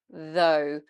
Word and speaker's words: though: This one is though, though. So here we have a voiced TH, though, and then we've got a long O sound, like in phone, goat, zone, boat. It's a diphthong, moves through two shapes. O, again, so we start more open and we come more closed. O. You do want to keep the mouth in a fairly round position for this one as well, though.